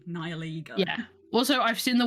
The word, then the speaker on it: Nihilego: To start with is Nihilego. Nihilego.